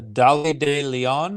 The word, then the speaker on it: Dolly de Leon: Curtis for everything everywhere all at once the dolly de Leon is that how you say her name yes